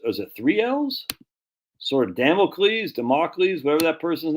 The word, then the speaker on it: Damocles: a manipulated Man by Esther Villar so you spell it wrong freaking Carl jeez man remedial spelling e-s-t-h-e-r-v-i-l-a-r Carl spell the e-s-t-e-r-v-i-l-l-l-a-r democles Damocles there you go all right cool what'd I say Damocles that's dude that's why I come here man